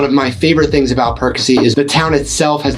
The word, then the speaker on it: Perkasie: And yes, that's how you pronounce it, Perkasie.